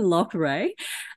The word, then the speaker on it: Loughrey: We were actually having a chat before we hit record about how to pronounce Kevin's name. So it's Kevin Loughrey.